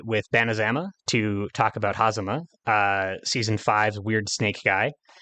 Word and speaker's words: Hazama: Is it Hazama or Hazama? So I guess it's Hazama, just because Okay, it's the Japanese sure. name, and you put like emphasis on every like Right, I guess kind of syllable there, evenly.